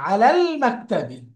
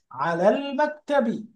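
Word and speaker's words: عَلَى المَكْتَبِ: আলাল মাকতাবি, আলাল মাকতাবি। তো এটা যেহেতু হরুফুন কাবারিয়া, মুন লেটার, এই জন্য লামটা, আলের লামটা উচ্চারণ হচ্ছে, তাই না?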